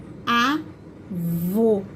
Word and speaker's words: avô: Eu tenho lá a palavra avó, avô. Olha pra minha boca. Quando eu falo, primeiro, avó, avó. Agora, olha quando eu falo a outra. Avô, avô.